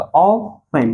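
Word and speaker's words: often: तो ऑफन, यहाँ पे टी जो है हमारा क्या है? हमारा साइलेंट है। क्या है? साइलेंट है।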